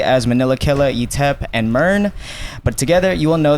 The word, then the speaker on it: MYRN: How do you pronounce it? Is it MYRNE? It's MYRNE, yeah. Okay. MYRNE. Do people say MYRNE a lot? I think the craziest I've ever gotten was like my urine.